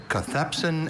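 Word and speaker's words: cathepsin: A cathpsin is an enzyme that is involved in the breakdown of proteins within cells sometimes resulting in damage or disease. Cathpsin. Are there any alternate pronunciations? There's cathpsen and cathpsen.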